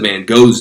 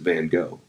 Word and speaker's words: Van Gogh: quite often, but Vincent van Gogh's name isn't pronounced Vincent van Gogh. It's actually pronounced Vincent van Gogh. But we don't pronounce, it's a Dutch name.